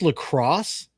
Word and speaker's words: LaCroix: I think it's lacrosse because people think it's like a French company, and it's like a company from Wisconsin or Minnesota.